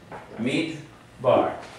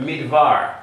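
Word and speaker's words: מדבר: And so here we have midbar. Instead of midvar, if I had no Dagesh here, midvar. Right? But there's a Dagesh in here.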